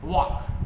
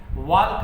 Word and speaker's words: walk: वॉक WALK वॉक, इसमें L silent होता है। वाल्क नहीं बोलते, टाल्क नहीं बोलते, टॉक बोलते हो आप।